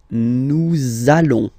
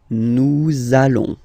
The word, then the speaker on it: nous allons: you will have to pronounce this z sound, okay? Listen to me. Nous allons. Nous allons.